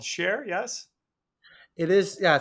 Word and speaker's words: Cher: You founded a company called Share, yes? It is, yeah. So it's called Share, and I named it not because I love the singer, It's but spelled she does C-H-E-R, kind. not spelled S-H-A-R-E.